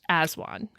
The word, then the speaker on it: aswang: I came across a Filipino folklore about the Aswan have you heard of this before it's spelled it's spelled um a-s-w-a-n-g but it's pronounced as one I did in my research for this project